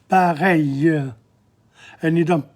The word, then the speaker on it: pareil: Pareil in front of the L. You don't pronounce the L's. Pareil.